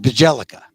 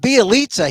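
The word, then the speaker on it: Bjelica: bialitza whose name look looks like you pronounce it bajellica but b eliza he looks like he's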